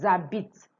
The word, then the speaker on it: habitent: and a vowel, or a consonant with a mute H, because the H isn't pronounced, so we are going to the vowel after the H. Nous habitons, vous habitez, ils habitent, elles habitent, elles habitent.